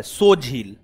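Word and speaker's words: Tso Moriri: लद्दाख का लद्दाख का सो झील सो त साइलेंट है सो झील त साइलेंट है सो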